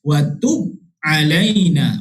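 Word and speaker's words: وَتُبْ عَلَيْنَا: Yang betulnya cara bacaannya ialah wa tub alaina, wa tub alaina. Okey, baca dengan cara qalqalah.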